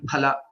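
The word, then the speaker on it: फल: Okay, there are many examples like Pala and Phala. I'm just briefly telling like that, and also Stamba and Stambha. These, Stambha. Okay. these mean Okay. a lot different when it is not pronounced correctly, and hence, so we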